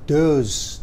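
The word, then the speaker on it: those: boleh tapi Bendanya tunggal loh kalau Bendanya jamak dos tulisannya th h o s e ya lah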